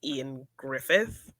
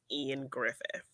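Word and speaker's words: Ioan Gruffudd: i is it ian it's spelled very differently but i think it's just ian griffith even though it looks like even though it looks like iowan grufford i think it's just ian griffith i'll go with i'm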